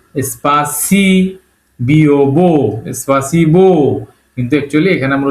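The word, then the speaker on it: спасибо: Word সেটা হল এ পে সপ এস সি স্পাসি বিব সপাসিবো কিন্তু একচুি এখানে আমরা উচ্চারণ করব সপাসিবা ওটাকে আসবে উচ্চারণ করতে হবে।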